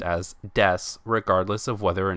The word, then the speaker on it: desu: keep in mind that this word is correctly pronounced as deaths regardless of whether or not it has a